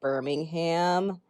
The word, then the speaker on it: Birmingham: would be birmingham and there would be a distinction between the city pronunciation in the uk we actually pronounce the h here in the states not sure why it's different but we do and also there is